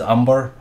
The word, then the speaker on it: Amber: Amber actually is pronounced as Umber, and it actually means